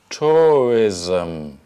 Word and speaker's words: tourism: or to read and here we have an extra syllable which is not written between the s and the M we put in an extra schwa um tourism tourism tourism so how